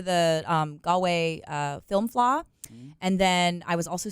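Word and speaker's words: Fleadh: is oh yes the flaw is the the film festival but it's spelled like fleed f-l-e-a-d-h very it doesn't make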